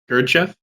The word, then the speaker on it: Gurdjieff: Gurdjieff? Thank you. Sounds like handkerchief.